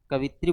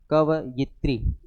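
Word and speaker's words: कवयित्री: जैसे कवित्री बोलते हैं। है ना? वो सही नहीं है। क्योंकि उच्चारण ही गलत करते हैं। मात्रा को पहले लगा देते हैं। है कि नहीं? क व गत्री ठीक है तो उच्चारण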